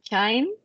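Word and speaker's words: QIIME: Y después usamos un programa que se llama Chime, se escribe Q-I-I-M-E, que es el primero que se creó para analizar este tipo de datos de microbiota.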